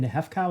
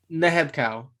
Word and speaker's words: Nehebkau: Nehefkau? Is that how you say it? Nehebkau. Yes, Nehebkau.